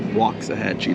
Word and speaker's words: Waxahachie: I think it's properly pronounced Waxahachie though.